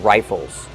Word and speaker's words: rifle: Use a long I like I and like rye. Rifle. Plus the short sound and the dark L. O. Like in table and bottle.